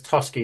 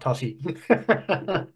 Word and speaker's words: Tosky: the first time round it's tosky not Tosi perfectly fine so now